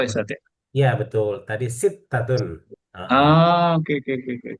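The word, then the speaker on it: ستة: Tadi sittatun.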